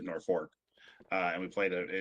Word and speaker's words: Norfolk: and played in um Norfolk, Nebraska, which for some reason they pronounce it Nork.